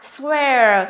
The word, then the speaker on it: swear: Chỉ riêng D của chúng ta, từ này đây các em, từ này chúng ta phát âm là swear, tức là gì đây? Air.